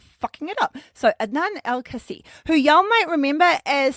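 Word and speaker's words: Adnan Al-Kaissie: professional wrestling association and were managed there by Nan El Casi. Oh no, Adnan Elcasi. I wrote that out phonetically to try and help me and then I ended up just it up.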